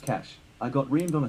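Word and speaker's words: cache: pronounced this as data as said it's pronounced cash I got remed on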